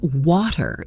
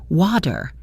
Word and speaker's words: water: The word water in American English has a strong flap T in the middle, so it sounds like water, water.